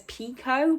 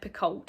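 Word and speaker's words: Picoult: her name wrong again i believe the audiobook says it as pico but i've always said piccold so i do apologize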